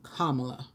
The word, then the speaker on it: Kamala: but the uh vice the vice president-elect pronounces her name kamala she's a libra was